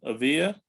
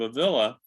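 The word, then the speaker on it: Ávila: believe you pronounced yeah if it were two L's you could say a via but it's one of so Saint Teresa of a villa uh she used to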